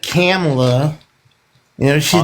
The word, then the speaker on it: Kamala: It's Kamala, sir.